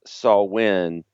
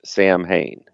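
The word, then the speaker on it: Samhain: Despite great it being pronounced Sawin, the band's name is often pronounced Sam Hayne. Glenn Danzig has said that both pronunciations are correct. Did I say Sam Hine?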